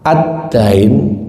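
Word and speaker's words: الدَّيْن: Adin jika diharakati berbeda sedikit maknanya jauh tapi kalau dalam bahasa Arab mirip. Addin jika diharakati fathah. Addain itu artinya hutang. Addin agama, adddain hutang.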